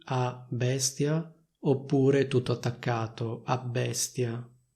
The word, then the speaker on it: abbestia: Si può scrivere così a bestia oppure tutto attaccato a bestia. In ogni caso si pronunciano due B, cioè una doppia B.